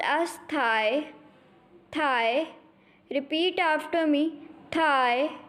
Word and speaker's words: tai: Will be pronounced as thigh, thigh.